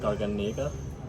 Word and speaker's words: Garganega: I think it's the grape Garganega, which is how you say it.